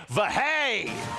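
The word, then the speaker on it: Verhey: He is Gavin Vay. So that's how you pronounce that.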